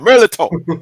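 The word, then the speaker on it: mirliton: You can get the pronunciation right, man. Hey, put that Cajun stank on it. Merliton.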